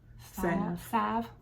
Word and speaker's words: Salve: busy happy hands hand Salve Salve how do you say that word Sav okay um and then it's